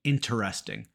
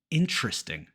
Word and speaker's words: interesting: going to use them but we don't say interesting almost all Americans say interesting interesting dropping that first e occasionally you'll hear people